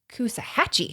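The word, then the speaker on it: Coosawhatchie: yeah yeah so uh just take out the W and you have it Kusa hatchee yeah nice job I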